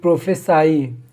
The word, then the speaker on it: prophesy: प्रोफेसी ये एक noun है, PROPHECY, और ये प्रोफेसाई, इसका प्रोनाउंसिएशन प्रोफेसाई होता है।